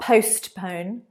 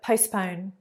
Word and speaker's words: postpone: Postpone. Postpone. The T is not very strong there. It's not postpone, but postpone.